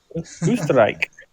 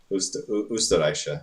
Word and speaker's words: Österreich: Yeah, the O with the umlauts is pronounced U. Yeah. U. Österreich. Österreich, yeah.